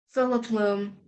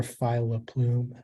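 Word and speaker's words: filoplume: there any alternate pronunciations it can be Philip Loom or phyla plume Phillip plume could you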